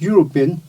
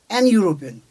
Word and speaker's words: European: U starts with Y sound, European. So we write a European. We don't write an European because the sound is consonant.